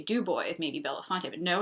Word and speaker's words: Dubois: one of the places another place would be Dubois which you would think would be Dubois but no it's Dubois Pennsylvania and then also near